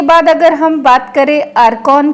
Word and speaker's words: IRCON: कि रेलवे में आरवीएनएल आरकॉन रकन भी इसको कोई कोई प्रोनाउंस करता है रेलटेल आईआरएफसी और आईआरसीटीसी